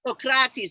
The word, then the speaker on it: Socrates: His book is a compilation of philosophical tales that surely made me think and go, It's pronounced Socrates. Socrates, just like Bill and Ted.